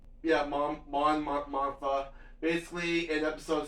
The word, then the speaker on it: Mon Mothma: so Mon Mothma, I think that's how you pronounce her name, right? Yeah, Mon Mothma.